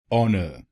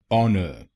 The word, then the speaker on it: honour: its correct pronunciation is honour honour there are two syllables in this word say the first syllable on on the letter h in it is silent it means if we